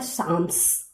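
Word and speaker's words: psalms: इंपेरर चार्लेमैग्ने encourage church music called, जैसा कि यहाँ पे स्पेलिंग्स देख रहे हो, इसका सही प्रोनाउंसिएशन होता है साम्स.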